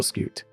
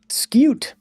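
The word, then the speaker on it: scute: It's notoriously annoying to farm scoots in bedrock. I don't even how do you pronounce it? Scoot. Scoot. Scoot. Skoot. Okay. Scoot.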